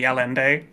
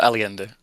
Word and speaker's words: Aliende: Demi Alende, is that how you pronounce it? Uh, Aliende. Aliende. Okay.